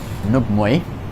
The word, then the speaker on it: Ng Mui: And so, this style was developed uh she she trained under the Shaolin uh nun, Ng Mui. Uh that's the name uh the Cantonese pronunciation.